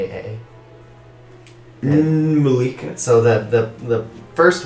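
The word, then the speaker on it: N'Mulika: l i k a Malika so that the the first word is always a first letter is always silent you never pronounce that but that's what tribe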